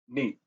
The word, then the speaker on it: niet: The pronunciation, you want to get the N as if you were pronouncing meat, but not as a heavy double E sound in the middle. It's not a prolonged E, it's neat.